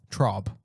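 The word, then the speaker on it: Traub: Trob, that's how you pronounce the name.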